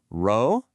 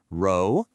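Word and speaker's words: 肉: It is not the English R. To make this sound correctly, your tongue needs to be flatter and further back in your mouth. It's almost like the position you'd be in to start the J sound in a word like leisure. Just listen to the difference. Row, that's English versus row. That's Mandarin.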